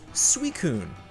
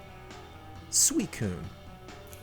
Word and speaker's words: Suicune: not launched yet and it is pronounced suicune suicune and corrections music please